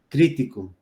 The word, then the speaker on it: crítico: ejemplo, de la palabra crítico. Fernando es un crítico de arte. Esa es su chamba. Crítico. Son 3 sílabas. La fuerza de la voz recae en la penúltima, antepenúltima sílaba, lleva acento.